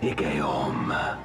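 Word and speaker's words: Igeyorhm: The Ascian Igeorm. Oh, finally we get to know how you pronounce Igeorm.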